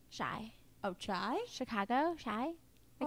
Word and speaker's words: Chi: Shy. Oh, Chai? Chicago? Shy? I Oh, call I her thought Shy. Like Chi-Town, Chicago. I thought it was Have you been Chi. calling her Chi like the hair product?